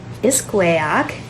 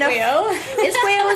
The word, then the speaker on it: iskwêw: everybody, and welcome to masinahikan iskwêwak. Look, I learned how to pronounce it properly this time. It's only been... Iskwêw is one, iskwêwak is multiple, so I finally learned how to pronounce it properly.